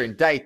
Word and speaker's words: indict: It's like, geez Louise, that is not pronounced the way it looks, but that's the way it's pronounced, so, like, whatever.